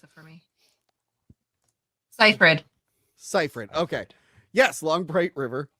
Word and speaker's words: Seyfried: Pronounce it for me. Seyfried.